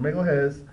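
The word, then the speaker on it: Magalhães: Sorry, that's how you say it. Magalhaes.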